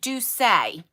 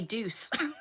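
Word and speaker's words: Doucce: it how it's pronounced so the correct way is do say that's how you do it i used to say deuce not douche deuce okay so this i know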